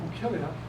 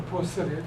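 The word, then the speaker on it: Poecilia: Well, 82 Bucillia, or Posilia, depending on which you prefer, or how you prefer the pronunciation.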